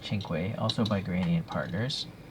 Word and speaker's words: cinque: or cinque i think it's pronounced chinkway also by granny and